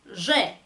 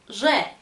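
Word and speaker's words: Ж: 이 쥐, 쥐, 러시아 사람들이 이 발음이 쥬욱, 그 벌 날개 소리랑 좀 비슷하다고 표현을 해요.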